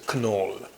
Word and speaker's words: Knoll: German guy so that the original pronounce of this name is Kunal okay because the guy